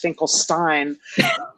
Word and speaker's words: Finkelstein: Actually, I believe that would be pronounced Finkelstein.